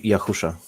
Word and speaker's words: Yahusha: what team yahia something it teashi yeah that's the wrong pronunciation be yahusha yeah and the pman